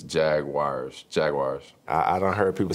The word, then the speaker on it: Jaguars: UA in it and most of those words pronounce those vowels separately we're actually adding a w in there that doesn't exist because it's Unique people